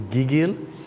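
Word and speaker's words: gigil: seized by affection is giggil spell it g i g i l gigg and pronounce the second syllable emphasize uh it's the first gig G gig no it's the first syllable gig gil g yeah yeah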